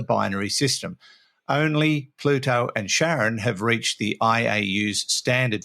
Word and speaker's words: Charon: He's talking about Pluto and Sharon. I think that's how it's pronounced, or Karen, Charon. We'll call her Sharon.